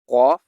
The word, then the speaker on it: ق: Qaf, kaf. Qaf, kaf. Qaf is pronounced by touching the deepest part of the tongue to the floor above it. That is the soft palate.